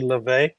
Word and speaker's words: Lauve: it mean okay so this is actually Le it's French Le Aesthetics um Le in just